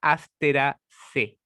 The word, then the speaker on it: Asteraceae: Es la familia de los girasoles y que la familia se llama, sí, se llama Asteraceae.